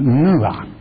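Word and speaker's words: נוע: And it's pronounced nuah.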